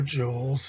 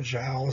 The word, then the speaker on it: joule: terms like watts or joules or gels i've heard different ways of pronouncing it depending on what country you're in or who's saying it but this whole idea